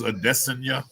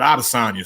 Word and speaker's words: Adesanya: uh like ariel helwani i believe the correct pronunciation is a destiny but out of sonja sounds way better it just does and we've been saying how to sign you longer plus it don't